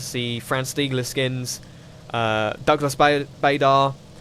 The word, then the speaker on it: Bader: Douglas Bader. Or Barda, I think he prefers his name to be pronounced as.